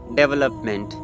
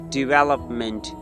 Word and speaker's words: development: So the wrong pronunciation of this word is development. Yes, mostly people say they pronounce this word development. No, this is not development. The correct pronunciation of this word is development. Development. You just not only watch my video, practice as well. Repeat after me. Development. Development. Well. You have to stress this syllable.